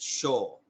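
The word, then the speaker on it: 青: to morning blue dragon, because it was Asa for morning and then owl for blue, but they pronounced it Sho.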